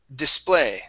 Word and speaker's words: display: And the last word for you is display. The stress is at the very end instead of display.